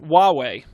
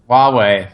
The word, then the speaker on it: Huawei: the native chinese android phone manufacturer hawaii h-u-a-w huawei huawei that's i that is how you say that